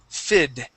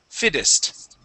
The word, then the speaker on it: fittest: also the word fittest so here we can actually switch the Double T to a D sound so instead of saying fittest FID fittest fittest okay yeah so survival of